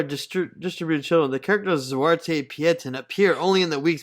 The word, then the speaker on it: Zwarte Piet: Is that how you pronounce it? Zwarte? Yeah, Zwarte Piet.